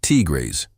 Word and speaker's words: tigres: Dominican women speak about sabrosura, flavor, of life, and often describe black men as tigers, pronounced tigres, resilient and streetwise in the most complimentary sense.